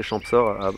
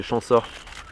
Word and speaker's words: Champsaur: T'as vu, j'ai fait un effort, j'ai appris à prononcer Champsaur. Auparavant, je disais pas le P, je disais Champsaur.